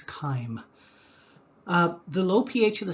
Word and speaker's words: chyme: i said before that when you see a ch at the beginning of a word it's pronounced as a hard k so the proper pronunciation is chyme however thinking back i